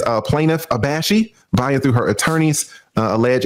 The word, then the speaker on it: Abashe: his so that's how you say her name abashi hashash hashash house and visit him in Jersey